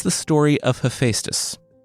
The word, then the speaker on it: Hephaestus: it's the story of Hephaestus. Hephaestus, according to the pronunciation aids on the internet, or Hephaestus, according to everyone who reached out after I said Hephaestus on last week's episode.